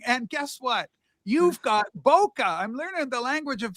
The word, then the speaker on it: bokeh: You've got bokeh. I'm learning the language of photography. You got bokeh. Rock. Let's pronounce it correctly. It's bouquet. It's bouquet.